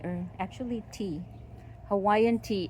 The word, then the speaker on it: ti: Here's another Hawaiian ti or actually tea. Hawaiian tea, it's t i but it's pronounced tea like iced tea.